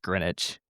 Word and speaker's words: Greenwich: Christian was actually the one who revealed to me that it's pronounced Greenwich.